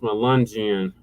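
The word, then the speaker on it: Melungeon: It's pronounced Melangian.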